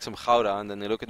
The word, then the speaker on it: Gouda: No, in all jokes aside, you know the cheese that you guys call like Gouda, right? Which is actually pronounced Gouda. It's Dutch, and I feel.